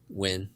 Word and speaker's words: Nguyen: name yeah yeah okay you can say it a bunch of different ways but I don't really care how do you say it win that's like usually the easiest way yeah okay so so